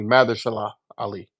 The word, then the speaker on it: Mahershala Ali: I thought Actually, his we name was always Marshall. pronounce his name wrong. It's actually Mahershala Ali.